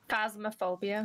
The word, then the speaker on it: Phasmophobia: Phasmophobia.